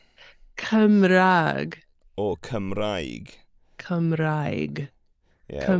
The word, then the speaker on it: Cymraeg: Cymraeg Cymraeg, or Cymraeg. Cymraeg, Yeah, well, Cymraeg or Cymraeg.